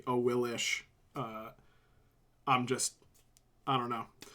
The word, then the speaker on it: Awilix: Like, I'm an Awilix sayer, even though it's technically Awilish.